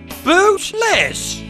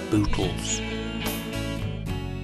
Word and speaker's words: Butles: And I stopped immediately, and I thought, "Boot, Les! That's it! From this day forward, we shall be called Boot Les." And so they were. But the press always mispronounced it, and it eventually became Butles.